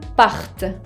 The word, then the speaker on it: partent: Ahora, fíjense que pour faire la différence entre il part au singulier et ils partent au pluriel, tengo que pronunciar bien la T final de la raíz al plural.